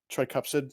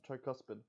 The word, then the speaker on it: tricuspid: The tricupsid. Ooh, my bad. Tricuspid. Tricuspid.